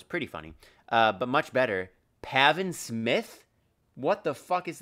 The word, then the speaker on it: Pavin: But much better, Pavin Smith? What the fuck is that? I'm assuming I'm pronouncing it right. It's literally just Gavin with a P. Pavin Smith.